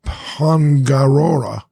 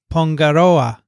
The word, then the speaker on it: Pongaroa: Andrew writes, Kia ora kotu from Pongarora, New Zealand. So that's the pronunciation. Why don't you do that? That's better. No, I'll just skip to the to the letter. Kia ora koutou Pongaroa.